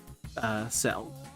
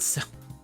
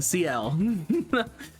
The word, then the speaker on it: Ciel: Executioner Ciel, or as everyone else calls her, Ciel. Not Ciel. Sorry, Ciel.